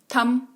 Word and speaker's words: thumb: थम। तो बी लिखा हुआ है, लिखते वक्त सही करेंगे, स्पेलिंग सही लिखेंगे, THUMB लिखेंगे, लेकिन पढ़ते वक्त थम पढ़ेंगे। अगला है BOMB।